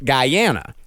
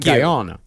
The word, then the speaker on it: Guyana: It's actually pronounced Guyana, not Guyana. Yeah.